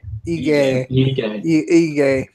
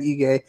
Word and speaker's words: Ige: Is it Iggy? Ige. Okay, Dan Ige.